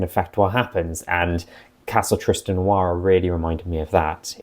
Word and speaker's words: Tristenoira: Part 1 was everything up to the Castle Tristenoira, or might be pronounced Tristenoira, but I like Noira because it sounds like noir.